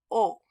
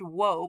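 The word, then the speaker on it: を: The direct object marker, o. Now, Duolingo does point out that a long time ago, before any of us were born, it was pronounced woe, but it's no longer pronounced woe.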